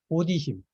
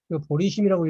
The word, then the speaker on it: 보디심: 이 공을 깨닫는 것이 슬기고 그리고 이 슬기를 슬기를 찾는 마음, 보디심, 보리심이라고 읽으면 안 됩니다. 예, 보디심입니다.